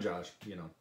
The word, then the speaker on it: Josh: wasn't quite there, but it was leaning more toward rhyming with Joyce. And I can't do it justice. Yeah. But I'm Josh, that's what it is.